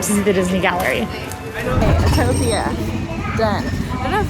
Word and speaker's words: Autopia: Okay, Autopia, done.